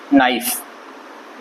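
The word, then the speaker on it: knife: और के साइलेंट है उसके बाद नाइफ यह बोला जाएगा और के से स्टार्ट होगा तो के इसम भी साइलेंट है अभी आप अगर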